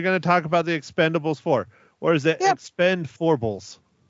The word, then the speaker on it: Expend4bles: that's right instead of an A but it's Expendables for is how I am pronouncing it if you have some time to